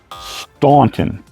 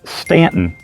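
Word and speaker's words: Staunton: it is not pronounced stunting it's Stanton you know for some reason we just decided that we didn't have to blend the A and the U together to make one sound so when you come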